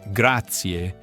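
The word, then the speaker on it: grazie: When saying the core word graatier, you must make sure you get the pronunciation right. Specifically, you should ensure that the final E is clearly heard.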